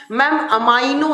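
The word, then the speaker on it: amino: तो आप याद रखिएगा कि अमाइनो एसिड जो होता है, अमीनो अम्ल या एमिनो एसिड बोलो, जैसे भी आप इसको प्रोनाउंस करो, अमाइनो एसिड ज्यादा अच्छा होता है।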